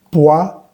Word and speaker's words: poison: La diferencia en pronunciación es que esta S va a vibrar, mientras que esta doble S no va a vibrar. Poison, poisson.